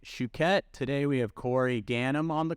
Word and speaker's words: Ganim: your host Nick shuket today we have Corey ganham on the call or is it gainham how do you pronounce that Corey again okay you nailed it